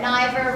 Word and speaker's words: Niver: My name is Niverina, and I always tell people I'm a school teacher during the day that Niver rhymes with diver and rhymes with China, which of course, for